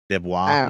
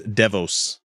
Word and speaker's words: DeVos: don't know how do the pronounce this lady name deah no it's no it's not that not as cool that she's DeVos I see deos D I see but Davos